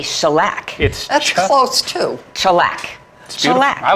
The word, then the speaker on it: Shellac: Shellac. All that practice. I just like saying it. I know. Shellac. Just say it. I was going to say shellac. That's close too. Shellac.